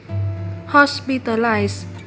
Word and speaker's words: hospitalize: Và cả hai động từ này cùng được đọc là hospitalize, nhấn âm 1.